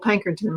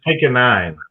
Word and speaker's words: Pankonien: You know, I've got Kiel Pankonien with me right now. Okay, I mispronounced your name again. Yeah, it's Pankonien, but it's okay.